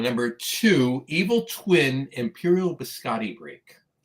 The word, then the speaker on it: biscotti: Biscotti. It's a cookie. You got to pronounce both te's.